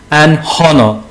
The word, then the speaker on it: honor: We use an before a silent hedge. For example, an honor, an honest man.